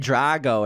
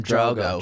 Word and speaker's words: Drogo: it's the boston accent you said drago instead of drogo drogo okay and then